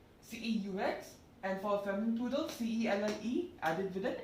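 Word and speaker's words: celle: So cell, C-E-L-L-E, then sir for masculine plural, C-E-U-X, and for feminine plural, C-E-L-L-E added with an S. Pronunciation will be same, cell. It won't be like cells, no. It will be cell.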